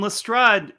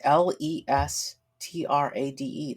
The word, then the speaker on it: Lestrade: I mean, his name is Lestrade. That's Lestrade.